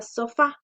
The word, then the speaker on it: sofá: tilda otro ejemplo es la palabra sofá a mayor fuerza de vuelo hacemos en la última son fa y cómo